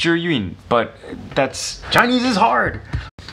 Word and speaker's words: Zhiyun: of a gentleman referring to this as the Zeon it's Chinese it's not his fault it's actually pronounced you're Ewing but that's Chinese is hard can I just